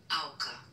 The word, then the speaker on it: Auka: Auka, that's how you pronounce it. It's Dutch. It's actually short of Audrey.